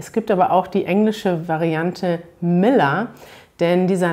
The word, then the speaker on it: Müller: man im deutschen nicht eigentlich kann man sich immer merken im deutschen wenn man ein ehe er am ende hat dass man das ganz oft wie ein ausspricht also müller das hört sich genauso an als würde am ende einfach ein a stehen und nicht ein müller das andere was man